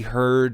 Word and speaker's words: Heard: as well because uh heard not herd side deppside has reserved